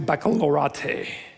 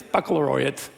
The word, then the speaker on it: baccalaureate: on your high school baccalaureate. 27 years ago, I know it's baccalaureate, whatever, that's how it's pronounced. 27 years, it's baccalaureate.